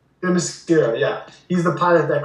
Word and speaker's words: Themyscira: Themyscira. Themyscira, yeah.